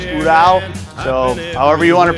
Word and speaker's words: Ural: Hey guys, gals, Teddy here at Spinwurkz, 1997 Ural sidecar. What a cool piece. Got that military feel. This is Russian made Ural. I've had the Russians correct me, it's Ural. So however you want to pronounce it, this is a Russian made sidecar.